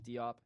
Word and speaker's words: Diop: State or dude Cato I can't say his name Diop but keep a its D up yeah um guys that